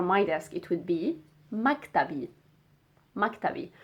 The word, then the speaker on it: مكتبي: So my office or my desk, it would be مكتبي. مكتبي. So we are just adding the E sound at the end to make it mine.